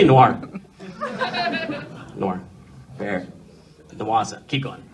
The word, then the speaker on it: noir: talk about no okay I like saying Noah me too I think i' say it wrong and too SL I never say Noah it's kind of like anime ever someone tells you no it's not called anime it's called anime and then I still say it wrong cuz I don't want to sound like well no let's say Noir Noir fa noasa keep